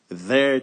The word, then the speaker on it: their: Their children. Vous prononcez their comme ça. Vous zozotez.